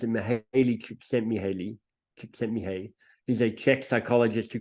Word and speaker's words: Mihaly Csikszentmihalyi: Some of you might know the heard of Mihai, I think you pronounce it Mihaly Csikszentmihalyi.